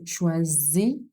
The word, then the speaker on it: choisis: Je choisis is Z sound because it's a single S found in between vowels. So it's pronounced as a Z sound. Je choisis.